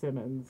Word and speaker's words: Siemens: I think it's actually pronounced Simmons. Simmons. Werner von Simmons. Yeah, I know it's spelled the way... That's how we would say it in English.